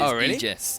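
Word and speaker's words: Aegis: egis Aus no no we we googled this it is egis yes it is a e is pronounced e today I learned so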